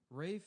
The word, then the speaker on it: Ralph: his whole name get this Rafe Nathaniel twistleton wiing ham f n yes yes